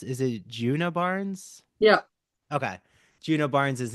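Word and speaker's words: Djuna Barnes: Virginia Woolf's Orlando, or um, how do you pronounce, is it Juna Barnes?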